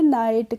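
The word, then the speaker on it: knight: के एन आई जी एचसी को हम पढ़ेंगे नाइट क नाइट नहीं पढ़ेंगे ठीक है क्लियर है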